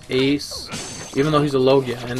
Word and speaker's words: Logia: even though he's a Logia, and they, like, mispronounced Logia. They said Logia, but in, like, every English version, and I'm pretty sure if you listen to the Japanese version, they say Logia.